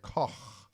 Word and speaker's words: Koch: I say Koch. Herr Koch. I should have just said Cook. That's what it means in German. Would have saved me a lot of headaches. But no, I had to say it like Grandpa said it. So we say Koch, which is kind of the Americanized version.